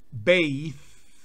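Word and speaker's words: bathe: bueno miremos otros verbos regulares el verbo To beis bañarse pero si le quitamos la e de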